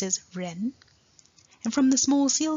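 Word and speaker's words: 人: the Chinese character for human or person it's pronounced as Ren from the small seal script we can see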